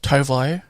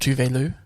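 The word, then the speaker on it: Tove Lo: Dies From Love by Tuvelu. Did you know that Tovlo is pronounced Tuvelu? That's not how it's spelled. That's not how it's spelled, it's how it's said.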